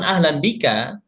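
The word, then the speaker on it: أهلاً بك: Adapun ahlan bika bisa kita artikan sebagai selamat datang juga. Seperti itu.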